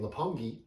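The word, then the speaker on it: Roppongi: section of Tokyo called napangi and they spell it r-o-p-o-n-g-i but they pronounce it kind of with an l and we'll get into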